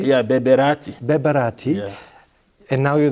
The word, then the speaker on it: Berbérati: Is it, I'm pronouncing it correctly? Yeah, Berbérati.